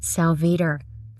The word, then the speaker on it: Salveter: Center and I had to learn how to pronounce my guest name, but his name is Dan Salvar.